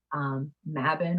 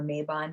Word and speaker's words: Mabon: So it was later adopted, in the neo-pagan community as a holiday called Mabon or Mabon, depending on how you want to pronounce it.